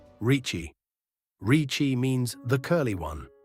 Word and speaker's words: Ricci: Americans say Rick-E, Italians say Ricci. A double C before an I is read as CH, so KH is a K and CCI is Chi.